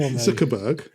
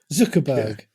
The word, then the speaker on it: Zuckerberg: his name what did I say go and pronounce it for Zuckerberg Zuckerberg what did I say z zberg um that